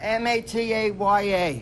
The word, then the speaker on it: Mataya: How do you pronounce M-A-T-A-Y-A? Right, Mataya.